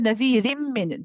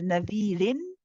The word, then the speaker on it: نذير من: Here again, you normally would pronounce this as nadhirin. You would expect to say nadhirin, but because of the min coming after, we then pronounce the we pronounce, instead of saying rin, we say rim.